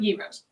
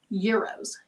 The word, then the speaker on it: euro: Not gyros, euros. Euros, I think that's how it's pronounced. That's how somebody told me. Almost like the word year, and O, euro.